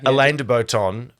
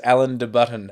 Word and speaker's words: Alain de Botton: Okay, Alain de Botton. You love this guy. I love Alain de Botton. I thought he was Alan de Button.